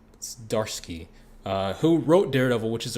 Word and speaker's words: Zdarsky: Zdarsky. I think the Z is silent. Zdarsky, who wrote Daredevil, which